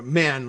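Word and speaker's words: Mahon: tuesday judge william mann a man like maha mayhem m-a-h-o-n which very often is pronounced man judge william mann said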